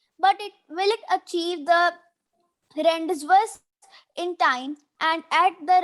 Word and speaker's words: rendezvous: Yes, its correct pronunciation is rendezvous.